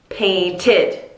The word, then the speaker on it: painted: How do I pronounce this? Painted, right? That T ending, painted. 2 syllables. Paint, painted. Okay?